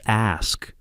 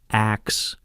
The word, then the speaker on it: ask: The way he gently correct Rachel's pronunciation at dinner saying it's ask not axe honey with his patient smile.